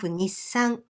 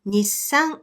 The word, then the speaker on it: Nissan: Point number 2, even though you don't pronounce it, this extra consonant still takes one beat when you pronounce the entire word. So that means you need to place one beat of silence for this extra consonant. So that word Nissan has 4 beats like this.